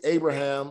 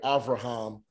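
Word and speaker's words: אברהם: lot of time because his name is abraham in english or abraham um alive aleph bet so that's why we still say abraham but they have it here avraham all right good job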